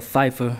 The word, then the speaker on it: Pfeiffer: he's pushing imma hit michelle pfeiffer that's silent p and you can hear